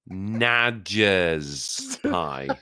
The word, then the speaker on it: Nadger's pie: I That would be name it. pronounced Nadger, by the way. Nadge. Say it slow. Be careful. Nadger's pie. It's And like it's from- badger, but not.